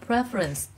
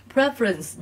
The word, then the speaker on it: preference: từ prefer đúng không động từ thì là prefer nhấn âm hai nhưng danh từ thì các em sẽ đọc là preference đó khác biệt chưa đ động từ thì nhấn âm hai nhưng danh từ thì lại nhấn âm 1 preference nhấn âm 1 còn lại thì sẽ